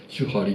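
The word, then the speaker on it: 守破離: 守ると破ると離れると書いて手張りと読むんですけ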